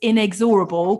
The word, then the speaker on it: inexorable: amazing to have you here and did I pronounce inexorable correctly hi um thank you for having me